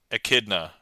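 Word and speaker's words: Echidna: Oh, with a hard C. Akidna.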